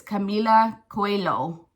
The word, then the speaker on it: Camila Coelho: It's like a Spanish name. So it's Camila Coelho.